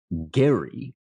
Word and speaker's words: Gerry: Okay, so our first subject this week was gerrymandering, named, as Mike mentioned, after Elbridge Thomas Gary with a hard G. It has now softened into a soft G in gerrymandering.